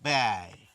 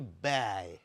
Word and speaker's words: ব্যয়: ব্যয় এই হচ্ছে এর উচ্চারণ। এই শব্দটির উচ্চারণ। এখানে তফাত কোথায়? তফাত রয়েছে দেখুন। জফলা রয়েছে শব্দের শুরুতে। কিন্তু এর সঙ্গে কিন্তু আকার নেই। কিন্তু উচ্চারণে কিন্তু আমরা বলি ব্যয়।